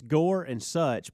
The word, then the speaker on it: Gorsuch: practicing now we're trying gorsuch um last night was funny though i i know just gotta learn go it's gore and such but you guys you rush gorsuch so it sounds like